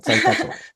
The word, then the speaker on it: Saskatchewan: problema, pero Saskatchewan.